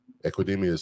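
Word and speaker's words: Equanimeous: Equinemius St.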